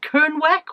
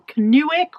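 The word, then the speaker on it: Kernewek: this is a cornish how do you pronounce kern canuik i'll put on the on the screen k-e-r-n-e-w-e-k if you're cornish is it kernweck or canuic or or something else anyway that's where it's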